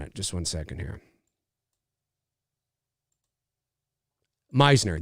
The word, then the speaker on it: Meisner: just one second here Meisner that's right Meisner I've heard people say Messner and I'm like that's not amazing Meisner yeah listen I was